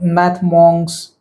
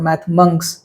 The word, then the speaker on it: Math Monks: by q maath u math mons or math monks monks is the correct pronunciation um Splash learn ET